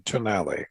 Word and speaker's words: Tonale: we were talking about what's the right way to say this yes they they wanted to be the italian pronunciation tonali yeah i love the